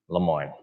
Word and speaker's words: Lemoine: acceptance rate son and I pronounce your last name differently Lemoine that's how you say it Lemoine I don't know if